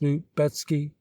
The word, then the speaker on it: Lubecki: constantine foiled provisional government lubecki pronounced newt betsky czar tororisky pronounced sar